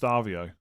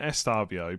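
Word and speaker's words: Estêvão: I thought you don't pronounce the E. I thought most of us say Estavio and it's just Stavio. When when I was pronouncing it Estavio, people said it was wrong.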